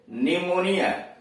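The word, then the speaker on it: pneumonia: हाँ, आपकी बात ठीक है, पी का उच्चारण प होता है, लेकिन शब्द के शुरू में PN आ गया या PS आ गया तब पी साइलेंट है।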